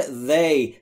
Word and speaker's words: they: ضمیر برای آنها میشه they و برای تلفظش دقت بکنید، زبون زیر نیش دندون بالا سعی میکنید بگید زنبور.